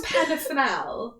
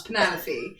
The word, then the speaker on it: Penelope: Because I know it's Penafenel, or is it Penelope? Not Penafenel, it's Penelope. It's just spelled fucking weird, isn't it? It's Penelope, but like it's spelled weird.